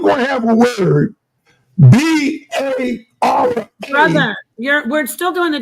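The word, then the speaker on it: ברא: So that word is pronounced bara.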